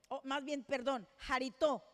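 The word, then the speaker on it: χαριτόω: La palabra aceptos en el original griego es jarito, jarito, porque tiene acento en la O.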